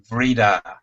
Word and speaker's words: Vridar: We pronounce it Vridar.